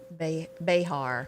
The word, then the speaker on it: Behar: Oh, your friend here, Joy, do you pronounce her name Bear? Is that how you say her name? Behar.